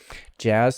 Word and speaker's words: jazz: problems here for asians jazz so it's a j your tongue is curled up for j jet ah the vowel here for add your jaw is low ah jazz and the z of course is just a voice s jazz uh it's a it's the voiced version of an uh voiced equivalent of an s this is not a